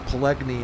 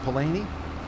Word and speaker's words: Palani: I don't think it's Pelegni. I think it's pronounced Palani. That looked like a really nice map as well.